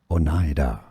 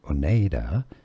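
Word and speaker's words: Oneida: It's pronounced as Onida. I don't look like it could be or maybe should be pronounced as Oneda, but no, Onida.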